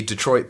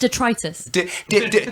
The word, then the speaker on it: detritus: Isn't it great that my wife did provide the the Detroit bits and I I thought that that was that was really I mean No, no, no. Sorry. It's pronounced detritus.